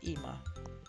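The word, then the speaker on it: אמא: Ama, which is mother. Mother is also sometimes pronounced as Ima.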